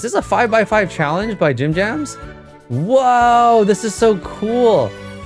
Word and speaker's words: Gym Jams: Am I pronouncing the name correctly, by the way? Gym Jams.